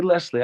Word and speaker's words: Leslie: I was a youth I would have pronounced your name Leslie lesli I definitely would have pronounced it with a z in the middle lesli but it's obviously written with an S so it's lesle but I think what